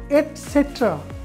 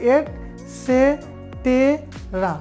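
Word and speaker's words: etcetera: না নেক্সট যেটা রয়েছে এটসেট্রা আমরা বলি ইটিসি সংক্ষেপে তাহলে কি এট আর সেটেরা আপনি যদি উচ্চারণ করতে যান একবারে বর্ণ দেখে তাহলে হবে এট সেটেরা কিন্তু এটা ভুল উচ্চারণ আপনার ই এলিমিনেট হবে তাহলে দাঁড়াচ্ছে কি এটসেট্রা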